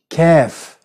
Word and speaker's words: كاف: And very soon, the next letter, which is very similar, but you find in English, the letter كاف, كاف, which is pronounced k, k, the same like English, has no problem at all, unlike the one before.